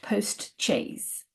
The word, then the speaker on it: post-chaise: Uh but in English it's pronounced postches uh with a ch and um it comes out of the idea of a chair on wheels effectively.